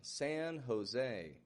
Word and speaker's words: San Jose: And one other thing I'd like to point out is in this other part, Jose, which is a name, and it's a Spanish name. And it maintains that Spanish sound on both the J and the E. I'm not saying San Jose, but I'm making kind of an H sound.